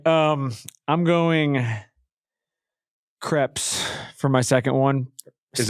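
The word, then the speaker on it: crêpe: Don't pronounce the S at the end.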